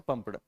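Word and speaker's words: pumped: अब देखो पंप्ड को जब प्रोनाउंसिएट करेंगे तो वहाँ पे पी की साउंड तो आ रही, पर पी की साउंड जो है वो उस पी की स्लाइटली साउंड आ रही, तो इसीलिए हम उसे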